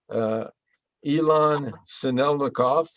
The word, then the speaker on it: Ilan Sinelnikov: From Israel, a transplanted Israeli, Ilan Sinelnikov, and I think I pronounced it correctly.